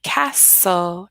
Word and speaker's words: castle: it's not correct so we have two silent T Castle castle yeah good and then